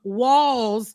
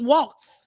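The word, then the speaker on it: Walz: those names right that I thought pronouncing um walls was Walts because I've been trying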